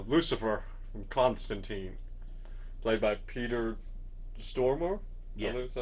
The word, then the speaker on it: Stormare: Lucifer from Constantine, played by Peter Stormare. Yeah. Is that how you pronounce his name?